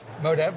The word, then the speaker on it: Modev: Modev, yeah.